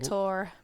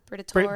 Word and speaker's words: Briatore: I can't pronounce it. It's not Bortol- Briatore. Briatore.